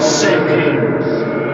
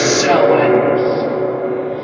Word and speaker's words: Samhain: And my name is not Samhain. That is not how to say the name. The name is Samhain.